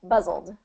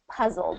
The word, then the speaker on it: puzzled: what's happening is where you're doing the P the b instead of a p so I'm very buz buzzed buzzed and I want it to p p puzzled P puzzled okay so what what uh